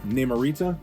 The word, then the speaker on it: Namorita: Namorita, in case we don't want to put the rolling R version in there.